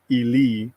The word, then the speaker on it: Eli: So yeah, it says here Eli should be pronounced Eli. The first E like E in bed.